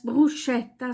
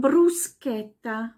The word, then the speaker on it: Bruschetta: pesce sind die Pfirsiche dann brusketta das wird so oft auch falsch ausgesprochen als brusche da sondern nicht Bruschetta sondern brusketta brusketta genauso wie mosqueto mosqueto